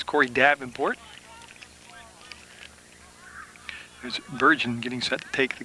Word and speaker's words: Bergen: Actually, I'm going to pronounce it Bergen, but I'll wait and see. It's B-E-R-G-E-N. It could be Bergen or Bergen. I'll go with Bergen.